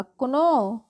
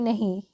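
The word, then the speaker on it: know: राजा kite means पतंग अब देखिए के एन ओ डब्लू इसका उच्चारण क्या होगा कुनो कुनो जी नहीं यह गलत हो जाएगी इसको हम सिर्फ पढ़ते हैं नो के एन ओ डब्लू को नो पढ़ते हैं के जो होता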